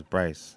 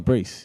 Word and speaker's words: Brace: Brace. I thought his name was Bryce. No, Brace.